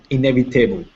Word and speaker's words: inevitable: Inevitable. Good. Pronunciation. Inevitable. Inevitable. Good. Remember, the T sounds like a D in American English, so it would be inevitable.